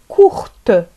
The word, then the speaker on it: courte: court لا نقرأ حرف ت في الأخير بالنسبة للمذكر، نقول كور قصير كور. وبالنسبة للمؤنث لو فيمينان نضيف او فنقرأ الحرف ت تصبح كورت كورت.